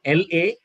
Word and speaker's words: lament: Both are correct pronunciations. Second word for you is, the word is lament. L-A-M-E-N-T.